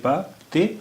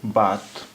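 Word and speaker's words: بات: B alif est prononcé Ba. C'est la lettre T. B alif Ba, T, bat. Bat.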